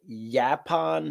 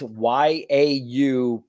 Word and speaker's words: Yaupon: producing and kicks ass, and it is called Yapon holly. Now, I could be saying it wrong, It's Yaupon holly.